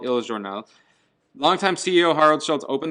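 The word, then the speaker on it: Il Giornale: Anyway, Starbucks used to be called Il Journal. Is that how you pronounce that?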